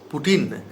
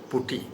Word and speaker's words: putty: the people general peoples are wrongly pronounced it as putin this is not putin this is actually putti So Masons also pronounce wrongly as Putin.